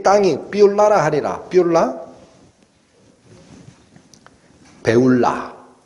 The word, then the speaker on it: 쁄라: 땅이 삐라라 하리라 삐라 배울라 원래 발음은 배울라 삐라 배울라 뭐냐 결혼한